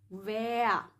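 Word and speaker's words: wir: So maybe you wonder why I don't really pronounce the R at the last. Normally it's wer, no? When we're not from Germany, then we're gonna read this as wer.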